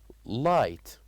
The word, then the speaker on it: light: And also the word light. Light. So here we wrote G and H without as we said without pronouncing them.